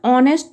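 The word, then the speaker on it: honest: और इसी प्रकार दूसरा सेंटेंस अगर हम देखें तो यहाँ पे ब्लैंक ऑनेस्ट मैन, तो हम यहाँ पे एच को ओ प्रोनाउंस कर रहे हैं जो कि वॉवेल है, तो यहाँ पे हम लगाएंगे ए एन।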